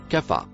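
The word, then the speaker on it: خاف: Par ailleurs, ceux ou celui qui le premier mot rouge se prononce caf.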